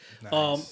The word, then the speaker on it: Nais: Nice. Again, on Instagram it's @nice brand. I'll add it here. Again, it's spelled NAIS.